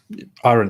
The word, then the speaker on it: Aron: wanting to speak to for quite a while aaron ra uh erin how are you doing it's all right it's aaron okay okay okay i have to correct absolutely